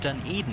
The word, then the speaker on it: Dunedin: here folks bloem says i've done eden is the way you say it awesome there it blooms